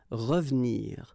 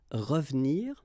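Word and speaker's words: revenir: what we've been seeing because it's the second syllable so you've got r and then but then clearly you don't pronounce it so you get ravnir ravnir okay same thing here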